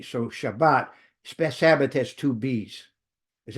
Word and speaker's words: Shabbat: If you see a double B, that's pronounced as a B. So Shabbat, spe has two B's.